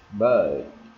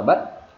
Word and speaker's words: bird: Bird. Ok, bird. Đúng rồi. Thì khi mà anh chị thấy này, được, bird, anh chị thấy em kéo dài không? Em không đọc là bất.